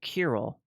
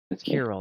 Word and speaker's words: Kirill: thank you and and you pronounced your name koll yeah koll not to be confused with Cil who is also in